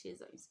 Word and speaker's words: schizonts: Yes, I don't know how you're going to pronounce this word, but it's schizoids, which is SCHIZONTS.